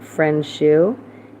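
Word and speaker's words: Friendsuh: under his name uh mike frenchu and f-r-i-e-n-d-s-u-h that's how you pronounce it i will put the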